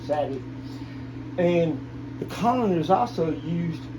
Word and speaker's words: Savate: The style was called Savate or Savate. That's how you say it, Savate.